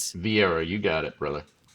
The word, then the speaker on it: Vieira: Vieira, you got it, brother.